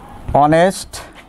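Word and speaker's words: honest: কিন্তু শব্দের প্রথমে এইচ থাকা সত্ত্বেও এইচ এর উচ্চারণ না হয়ে অ এর মতো উচ্চারণ হলে অ এর মতো উচ্চারণ হলে সেক্ষেত্রে অ্যান বসে। যেমন প্রিয় শিক্ষার্থী, বোর্ডে দিয়ে লক্ষ্য করো, হি ইজ অ্যান অনেস্ট ম্যান। তাহলে এখানে কিন্তু দেখো এইচটা কিন্তু উচ্চারিত হয় নাই, কি হয়েছে, অ হয়েছে, অনেস্ট অ হয়েছে এখানে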